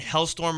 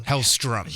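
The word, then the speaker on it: Hellstrom: and whatnot it looks like Ghost Rider and hailstorm are gonna be featured in some horror line that they're gonna have there could be other characters and what is he'll storm and attack I said it wrong hellström yes thank you how strum and I think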